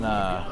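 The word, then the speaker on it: Geaux: Because I was thinking, there's no way this dude just said G-E-A-U-X. You know, Broncos. That's such a wild thing to say. Go Broncos, spelled like that.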